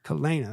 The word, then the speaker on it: Kalana: My mother named me Kalana. Kalana. That's how I say it. And that is how it's pronounced.